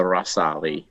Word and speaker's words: Ghazali: Based on the chat today, I think it's correctly pronounced the Rasali.